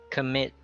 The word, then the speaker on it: commit: It's culture, commit, communicate, contribute. So with the com, sometimes it's pronounced as ka. You drop the o, but most of the time it's pronounced as schwa, depending on the word.